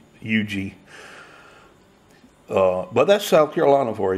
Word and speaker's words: Huger: they got a beer called ug Street spelled hu ger tell me how that's Yugi but that's South Carolina